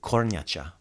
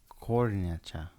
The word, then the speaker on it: kornjača: The word for turtle is kornjača. Kornjača.